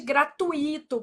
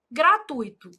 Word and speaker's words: gratuito: Então, gratuito, não existe gratuito, por exemplo, né? Ah, o certo é gratuito.